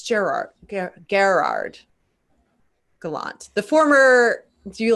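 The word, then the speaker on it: Gerard Gallant: do you say it it's like super french like gallant or is it gerrard no it's gerard garrard gallant the former do you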